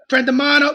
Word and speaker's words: Prendimano: it he's an Italian my name ends in a vow that's not silent like yours is silent so I mean more Garcia friend Mano we get louder you